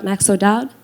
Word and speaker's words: Max O'Dowd: not to hi everyone we are we've got maxo Dodd I hope I pronounced your surname properly nailed it thank you